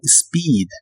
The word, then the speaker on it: speed: Y usaremos el verbo speed. Esta palabra como verbo significa ir a exceso de velocidad, como cuando alguien maneja muy rápido. La doble E se pronuncia como doble I.